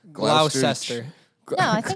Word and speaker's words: Gloucester: Gloucester. Gloucester. No, I think it's Gloucester. Gloucestershire. It's Gloucester. pronounced like Worcestershire.